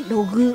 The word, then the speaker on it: LOG: 、はい、 LOG と書いてログ、はい、